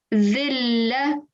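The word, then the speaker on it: ذلة: But when we are joining this the to the lam, dhilla, can you hear any nasal sound? No. No, exactly.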